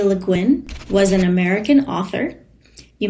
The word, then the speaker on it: Le Guin: Leguin was an American author. You may notice that her last name is French, but as an American, she pronounced it luin.